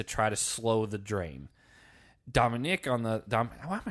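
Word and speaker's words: Dominick: I know, but I want to say Dominique. That's a woman's name. I've known guys who are named Dominique. Okay, well, it's Dominic. I looked at the spelling. It's spelled N-I-C-K.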